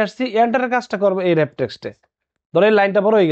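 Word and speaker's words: Wrap Text: বুঝলাম আচ্ছা তারপর আছে র‍্যাপ টেক্সট এখানে লেখা আছে ওয়ার্ক টেস্ট আসলে উচ্চারণটা কি হবে র‍্যাপ টেক্সট র‍্যাপ টেক্সট এর কাজটা কি আমরা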